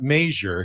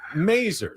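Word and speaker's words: Masur: There was Andy Mazer, who was the Padres broadcaster, but he didn't pronounce it Major. He pronounced it Mazer.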